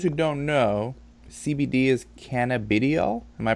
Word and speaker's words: cannabidiol: and for those who don't know CBD is cannabidiol am i pronouncing that correct yes and it's been really